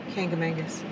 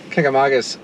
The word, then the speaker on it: Kancamagus: to the kanka ma jesus just say it kangamangas haha i said it wrong kagamagas highway without putting up your past so they